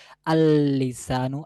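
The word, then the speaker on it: اللسان: যে তাহলে বলতে হবে আললিসানু আললিসানু এখানে মনে হচ্ছে উচ্চারণ আসতেছে কিন্তু মূলত আসতেছে না ওইটা পরের লামের সাথে মিশে গেছে এবং ওই দ্বিতীয় লামের উচ্চারণ হইতেছে আললিসানু আললিসানু তাসজিদ হয়ে আললিসান হইতেছে তারপর দেখেন নুন দিয়ে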